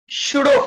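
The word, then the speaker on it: pseudo: ऐसे पी अलग तो नहीं, मैडम पी साइलेंट रखा जाता है, शूडो फोर्स।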